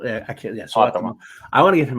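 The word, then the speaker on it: Suotamo: by the way, to I never can pronounce his name, but Jonas Saratanamo. Well, he's Finnish, actually. Finnish. Can you say a name better than I can? Probably, maybe. I'm just looking it up. It's Jonas Swatamo.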